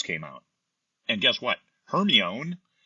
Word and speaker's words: Hermione: Hermione, imagine my surprise when it wasn't pronounced Hermione. I read 2 books pronouncing it that way in my mind before I heard what it was supposed to be.